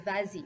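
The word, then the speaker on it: vas-y: be va z and oddly enough that s comes back for pronunciation but that's that was a tricky example that i gave you so vasey so the pronoun goes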